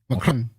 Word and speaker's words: Macron: How you say it? I say it like the French. Macron.